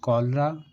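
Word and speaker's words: cholera: जैसे कोलरा, कोलर, कोलरिक, कोलेस्ट्रोल। इन सभी words में सी एच के बाद ओ एल आया है और हमने सी एच को का से पढ़ा है।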